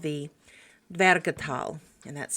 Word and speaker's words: Dvergatal: Two main characters appear at the beginning of this catalog within a section of verses called the veratal and that's spelled d v e r g a t a l.